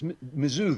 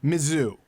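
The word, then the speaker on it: Mizzou: never get it right how do I pronounce it Andrew claven it's mizou they call mizou mizou that's stupid that's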